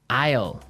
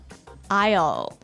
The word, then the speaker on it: aisle: Islele. Islele. A I S L E. Isle. Isle. It's a tricky word. It sounds like the contraction of I will.